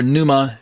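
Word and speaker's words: πνεῦμα: in the Greek or Numa however if you want to pronounce the P or not uh uses this word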